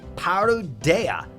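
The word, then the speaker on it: パルデア: the difference is important so in Japanese it's parodya okay some of you guys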